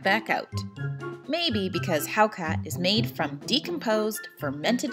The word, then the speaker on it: Hákarl: I don't have very good Icelandic pronunciation, so here is an Icelander saying the word. Hákarl.